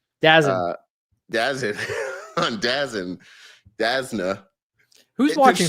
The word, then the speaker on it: DAZN: how I learned last week that's how it's pronounced. DAZN.